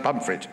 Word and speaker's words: Pontefract: So that's like Pontefract, but yes, pronounced pomfret, right?